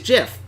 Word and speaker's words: GIF: yes choosy developers choose Jiff well I do support Jeff and you know the guy who created GIF says it's pronounced Jiff so the voice of